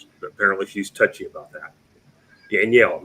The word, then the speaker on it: Danielle: And we had the bombshell, Haley Danielle. Don't mispronounce her name, by the way. Apparently she's touchy about that. Danielle, not Daniel.